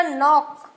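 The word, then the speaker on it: knock: bold किया यहां देखो नॉक में के और सी साइलेंट है हमने क्या बोला नॉक रेसल देखो रेसल डब्लू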